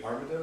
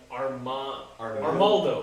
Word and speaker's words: Armaldo: to play as Iggy Buff and I think Armados, is that how you say it? Armandos? So the fossil Pokemon? Armaldo.